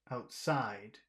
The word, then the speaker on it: outside: is one of them it's outside outside it's the second one outside outside outside okay